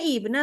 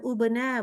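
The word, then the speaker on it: ابنَ: oh ini bacanya ibna tuh aslinya ibna, bukan ubena, bukan abena.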